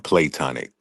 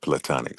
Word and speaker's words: platonic: saying about the uh he was saying plonic, but you know, the word is pronounced platonic.